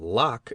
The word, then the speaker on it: Locke: did not know that Locke is pronounced in only one syllable till many years after